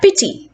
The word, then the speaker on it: pity: Pity. Pity is a noun. It is 2 syllables, pit and e, and therefore the first part, the pit part, will be stressed.